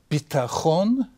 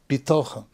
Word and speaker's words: bitachon: The word bitachon, sometimes pronounced bitochon. Bitachon means security, and bitochon means faith or trust.